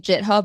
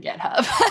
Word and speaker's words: GitHub: Do you think if enough enough influencers start calling it JitHub, it might stick? It would be very French of us, I think. Right. That's kind of like a French pronunciation.